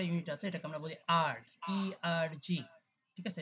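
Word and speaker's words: erg: তাহলে সিজিএস এ শক্তির নতুন একটা ইউনিট আছে, এটাকে আমরা বলি আর্গ, ইআরজি। ঠিক আছে? এটাকে আমরা উচ্চারণ করি হচ্ছে আর্গ দিয়ে।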